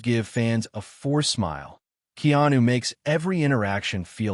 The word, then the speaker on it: Keanu: I was saying Keenu or something. It's Keanu.